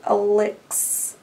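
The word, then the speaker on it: Alyx: pink um um Al Alex Alex but it's spelled a l YX which is a nice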